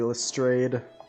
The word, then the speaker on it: Lestrade: the museum all righty lestrade or lestrade as it should be pronounced nothing to report mr